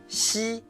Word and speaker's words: xi: It sounds similar to English words she, xi, she, xi, she.